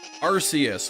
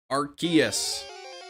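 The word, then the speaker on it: Arceus: at super early in pronunciations and saying arus which is also correct incorrect I should say archus is the correct way another unknown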